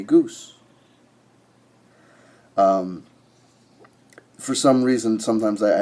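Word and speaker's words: Goese: by the name of Mimi Gossi is how I pronounce her last name. I pronounce the name Gossi, though it might very well be that her name is Mimi Goose.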